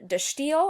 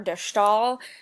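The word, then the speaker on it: De Stijl: 12 and this is dashtil or dashtal is usually how it's pronounced i know that's kind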